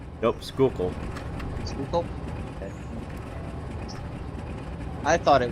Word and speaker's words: Schuylkill: Schuylkill? Nope, Schuylkill.